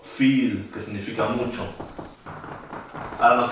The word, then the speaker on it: viel: El diptongo I siempre se pronuncia como una I larga, como en las palabras sí o viel, que significa mucho.